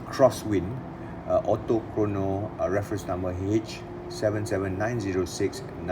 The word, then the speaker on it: X-Wind: aviation x wing or i think the correct way to pronounce it is crosswind autochrono a reference number